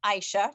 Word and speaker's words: Ayesha: yeah my name is aisha just pronounced just two syllables for anybody who's looking been looking at the name and how to say it um so i'm an